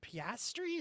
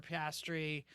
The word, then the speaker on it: Piastri: Alpine Formula One team and reserve driver Oscar Piastri, is how you say it, right?